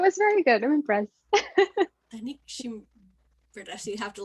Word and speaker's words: Danica Gim: Okay, it's Danica Gim.